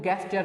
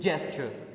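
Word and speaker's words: gesture: ये जो वर्ड है इसको वो गेस्चर पढ़ते हैं। गेस्चर नहीं है, this word is its actual pronunciation is जेस्चर, keep it in mind.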